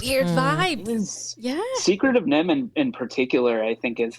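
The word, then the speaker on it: NIMH: I was thinking The Secret of Neve. Is that how you say it? Secret of Nim. The Secret of Nim.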